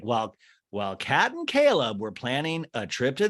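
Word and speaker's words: Chleb: which is caleb uh caleb remember that's how you say his name that's catherine's boyfriend or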